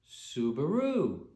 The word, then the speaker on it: Subaru: recognize the name because pleiades in japanese is pronounced subaru if you take a